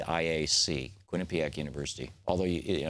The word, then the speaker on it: Quinnipiac: can find it over at their website Quinnipiac is spelled Q UI NN i p i a Quinn Pak University although you know it's easy to find